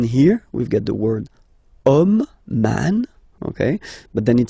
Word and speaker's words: homme: And then here we've got the word homme, man, okay, but then it starts with H, as in French H is not pronounced, so the first sound that we hear is O, okay, and then it will follow the same rule.